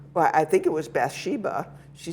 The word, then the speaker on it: Bathsheba: Yeah, who we do with the Hebrew pronunciation, so it's Bathsheba.